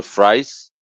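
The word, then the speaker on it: Fries: also known as uh was it Victor frice right that's how it's pronounced yeah um every if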